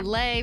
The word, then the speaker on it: Lei: Thank you, Lei, pronounced like Hawaiian Lays.